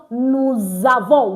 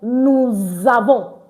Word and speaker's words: nous avons: So that explains why it is pronounced nous avons. Why? Because letter S in between two vowels, in the middle like this, one at the back, the one at the front, is pronounced as Z, Z, Z.